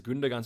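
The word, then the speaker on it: Gündoğan: that is true uh that's wrong it's pronounced as gundagan so thanks vincent for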